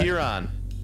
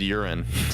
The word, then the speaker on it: Huron: Oh, Isn't Huron. Yeah. I thought you said urine. No, well, I mean, I think you could technically pronounce it that way, kind of like. You'd be wrong, but you could.